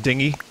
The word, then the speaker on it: dinghy: is uh dingy yes dingy is the correct way to say it it's it's that's just a boat I don't know if it's more of an English thing but a dinghy is a boat I know that from